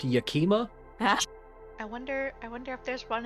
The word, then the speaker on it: Yakima: Think it's pronounced Yakima?